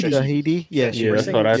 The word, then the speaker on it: Shahidi: Shahidi. Shahidi. Yeah, Yeah, that's what I thought it would be. Shahidi. That's I what was just we'll making go sure. with. Yeah. So she was cast Shahidi?